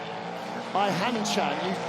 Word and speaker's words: Hanchan: Hanchan, you pronounce the H.